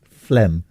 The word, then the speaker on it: phlegm: Phlegm. You right? Yeah. Okay. I just haven't used that word in a long time. Phlegm? Yeah. Phlegm. It's weird. It's spelt weird, isn't it? PH and a G. Phlegm.